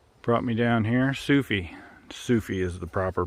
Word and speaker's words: Sufi: all right soufa brought me down here sufi sufi is the proper pronunciation i've been saying sufy this whole time but it's sufi um he brought me here to the trail